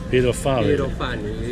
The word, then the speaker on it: Pyrofani: How do you pronounce it? Pyrofani. Pyrofani.